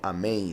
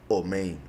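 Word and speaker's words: אמן: Hay quienes siguen la pronunciación ashkenazi, que no es la correcta, y dicen omen, por si algo.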